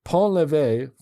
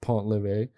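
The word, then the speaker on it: Pont-l'Évêque: First, Pont-l'Evêque, pronounced Pont-l'Evêque, I think I said Pont-l'Evêque, is often rated as the stinkiest cheese in the world.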